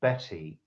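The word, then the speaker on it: Bette: now Sara Betty Davis spelt be e TT e but pronounced Betty was a Hollywood superstar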